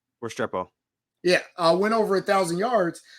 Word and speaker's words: Restrepo: Restrepo.